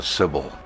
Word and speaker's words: Sibyl: the books of the Sibyl. It's spelled S-I-B-Y-L. I'm just taking that as another way to use an I, Sibyl.